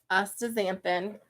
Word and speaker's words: astaxanthin: Then you have heard him talk about this astaxanthin, right?